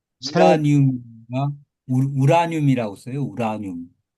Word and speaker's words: 우라늄: 발음에네 발음은 유라늄이 맞을 수도 있는데요. 교수님 이게 뭐 한국 뭐 한국어 표준 국어 사전에까지 올라가 있지는 있는지는 모르겠는데 한국 화학에서 외국어 표 그 원소들의 표준 발음을 정해 놓은게 있어요. 예. 그렇죠. 거기에서는 유라고 표시를 안 하고 그냥 우라늄이라고 하는게 맞아요.